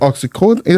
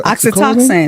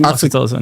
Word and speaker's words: oxytocin: The oxycodone, how do you say? Oxytocin. Oxytocin, yeah.